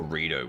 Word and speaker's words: Redux: Is it pronounced Redux or Redo where the X is silent? I say Redux because I'm not French.